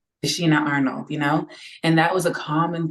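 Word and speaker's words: Tichina Arnold: Sorry, how do you say Tisha Arnold? I'm gonna say her Tashina. name. Tashina Arnold, and that was a common thing with these shows.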